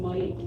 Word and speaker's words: Ma'at: When you say Ra, that's not correct. If you read the language, then you will learn that it is a long A sound. It's like in Ma'it, it's not Ma'at, it's Ma'it.